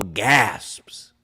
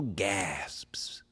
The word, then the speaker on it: gasps: to go for, audible gasps. And you had to pronounce both. I'm an English major. You have to pronounce both s's in gasps.